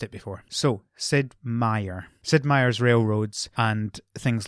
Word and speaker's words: Meier: I have always heard it said Sid Meier.